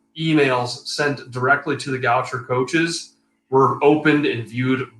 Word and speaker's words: Goucher: I had to look up the pronunciation, and Google told me it's pronounced Goucher.